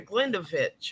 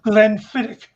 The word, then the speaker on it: Glenfiddich: is a Glendafitch or Glenda? Glenfiddich.